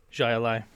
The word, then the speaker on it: Jai Alai: __ ] you see the AI is pronounced exactly the same at the end jai alai oh really let's go